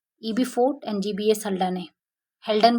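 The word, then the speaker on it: Haldane: fort and जीबीएस हडाने हेल्डन बोलते हैं हडाने जो भी आप बोल सकते हो मतलब मेरा थोड़ा सा प्रोनाउंसिएशन ऐसे ही हो गया है हेल्डन होता है देखिए कार्लैंड स्टेनर डिस्कवरी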